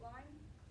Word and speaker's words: Lyme: Some of the myths of Lyme disease is people say Lyme's disease, and that's just not saying it right. It's just Lyme. It's not, doesn't have an S.